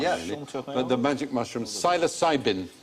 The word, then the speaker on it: psilocybin: But the magic mushrooms, psilocybin. So with a silent P, psilocybin.